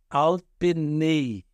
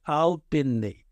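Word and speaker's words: על־פני: Então, Alpenei. Então, você tem aí o Tissirê e o Iod no final, que é Y em português, né? Então, você tem essa pronúncia Alpenei.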